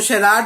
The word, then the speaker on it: charade: तो शेराड वर्ड हम वोकेबलरी कर रहे थे इन क्लासेस के अंदर।